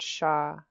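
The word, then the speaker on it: shaa: out for us that this word sha is mountain. and you spell it with a low tone double A. Um, I think if you switch it to high tone, it can change the meaning to woman.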